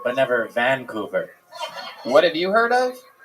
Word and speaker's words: Vancouver: Vancouver I've heard of Vancouver but never Vancouver what have you heard of Vancouver what what what did I say Vancouver you put the wrong emphasis on the wrong salel okay I I don't